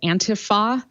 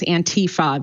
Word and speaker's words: antifa: it's being pronounced is antifa there is no long e sound in the word antifa but whatever um the